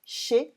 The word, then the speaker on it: chez: And here, chez is pronounced without the Z at the end, chez on its own, but because we add